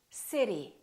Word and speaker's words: city: that is very American I'm going to say one word in two different ways and I want you to ask yourself which one sounds American listen carefully City City ability ability better better water water it is it is the second one is an American accent all of those words